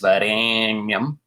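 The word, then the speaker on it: वरेण्यम्: That's an extra long A sound with 3 matras. Varēnyam.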